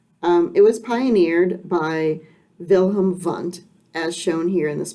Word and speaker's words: Wilhelm Wundt: Uh, it can be difficult to pronounce his name, um, because in Germany they pronounce the "W" with "V" sound. So let's practice this together, Wilhelm Wundt.